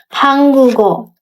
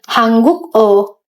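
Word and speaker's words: 한국어: suku kata berikutnya contohnya hanggugo Jadi dibacanya bukan hangguk O bukan hangguk o tapi jadi hanggugo hanggugo bukan hangguk O hangguko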